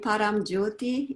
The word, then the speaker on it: Paramjyoti: I will let you pronounce it so it's correctly pronounced. Yes, I received the name Paramjyoti in India from I call it heart family.